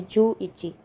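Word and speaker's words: 十一: गो लोकू शची या नाना हाची कु या क्यू जु अब 11 है तो 10 और एक की प्रोनंसिएशन हो जाएगी जु इची जुनी 10 और दो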